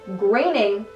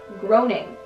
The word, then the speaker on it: Groening: According to Matt Groening, yes, that's how you say his last name. I researched it. It's Groening, not groaning. I was wrong this whole time. Ever since I was a child, I've been saying it wrong.